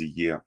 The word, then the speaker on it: Ea: The pronunciation is Ea.